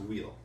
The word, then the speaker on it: WHILL: Probably pronounced wheel.